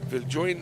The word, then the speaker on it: Viljoen: This is Jamie Viljoen, it's spelled J-O-E-N, but I think it's pronounced Viljoen, so kia ora to Jamie's whānau as well.